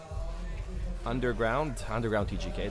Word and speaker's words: Underground TGK: TGK, Underground TGK, that would be the correct way to say it.